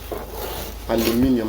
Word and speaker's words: aluminium: How do Americans say aluminum? Because I never could say like Americans do. Aluminium. I even spell it, and I've not lived in Britain since 1966. So I don't know why I still pronounce it the same way.